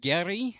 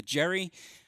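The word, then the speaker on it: Geri: the screen momentarily uh the uh Gary I I keep trying so hard to not call it the Jerry uh and the best I believe is the correct way to uh pronounce those two ships uh we did have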